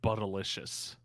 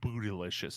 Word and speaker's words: Buttalicious: If I keep looking at Buttalicious. Not Bootylicious, I think is that you call it. It's Buttalicious.